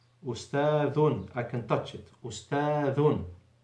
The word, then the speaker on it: أستاذ: If you keep the tongue in the mouth, then 100% you will pronounce it wrongly. And this can be recognized by an Arabic student in the primary school in the first years. He will straight away recognize that you have pronounced it wrongly. With the dhal, always the tip of the tongue goes out.